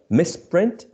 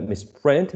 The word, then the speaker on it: misprint: made more prominent right misprint is the noun right so it's a sort of mistake a typo right a mistake in uh the document and uh miss print is the action so in this case